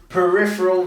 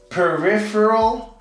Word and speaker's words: peripheral: we're going to do peripheral vision now I'm pretty sure that proper way to pronounce this is peripheral but I say peripheral like I kind of skip the e peripheral and that's how